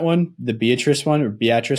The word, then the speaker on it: Beatrice: but there's that one uh Beatrice instead of Beatrice a lot of people think it's Beatrice yeah you know the story on that one the Beatrice one or Beatrice it's crazy because the